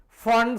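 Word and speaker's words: Pfund: Fund series, don't pronounce as is the P fund, it is for hydrogen atom.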